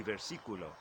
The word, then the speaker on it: versículo: And both of these words have the accent on the second syllable, which is kind of strange in Spanish.